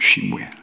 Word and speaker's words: 사무엘: 그리고 사무엘도 마찬가지예요. 사무엘도 쉬무엘이에요. 쉬무엘.